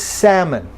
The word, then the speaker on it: salmon: Then a word like this, it doesn't have the ah sound, it's ah, and no L, okay? The word is salmon.